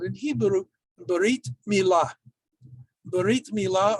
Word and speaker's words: Brit Milah: Brit Milah, or Bris Milah, if you use Ashkenazi's pronunciation, and that's why it's often called a bris, is ritual circumcision.